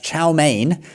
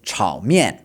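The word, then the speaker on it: 炒面: We already told you that chow mein is chao mian, all right? Third tone, then fourth tone, and slightly different pronunciation.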